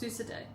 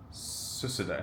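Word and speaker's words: សួស្តី: Susu day. Susu day. Not pronounced as how it's spelled. Like hello, susu day. He didn't pronounce the D there.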